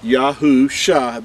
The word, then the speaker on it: Yahusha: If you can see this, this is the letters Yahusha. That's how you pronounce these letters right here that are in Hebrew.